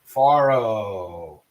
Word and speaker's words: farro: Farro. Faro. It's like closo, but faro.